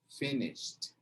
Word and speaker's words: finished: De novo, não pronuncia o E. Engole o E, menino. Engole o E, menina. Finished.